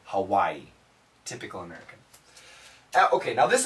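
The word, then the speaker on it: Hawaiʻi: The proper pronunci most Americans say Hawaii. Hawaii. Hawaii. But the proper pronunciation is Hawaii.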